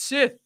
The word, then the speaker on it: Sith: like and he pronounced like and like everyone was just like it's it's Sith. It's Sith, man.